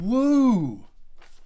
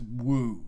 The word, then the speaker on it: Wahoo: you spell that and that's oh you mean woo right you know you know pronounce it wahoo you idiot it's woo don't